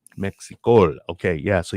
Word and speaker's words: Mexicol: actually uh pronounce that mexico mexico okay yeah so you really put an emphasis on that l for the colombian part of it yes and as you